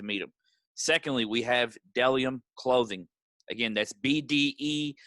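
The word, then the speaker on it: Bdellium: him secondly we have dellium clothing again that's l i o b-d-e-l-l-i-o-m clothing my friend isaac thomas doing big things uh dellium clothing is pronounced dellium even though there's a bee in the front you know um bellium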